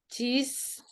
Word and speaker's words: chess: Joko plays chess di malam hari. Cheese, not cheese. Cheese kan keju. Gimana sih Miss bacanya?